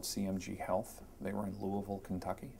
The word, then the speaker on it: Louisville: They were in Louisville, Kentucky. You can tell I lived there because I know how to say it. It's not Louisville.